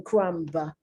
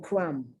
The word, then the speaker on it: crumb: to doubt someone crumb notice i'm not pronouncing the b i'm not saying crumb i'm saying crumb and i'm only i'm not even pronouncing it a little bit or subtly plum numb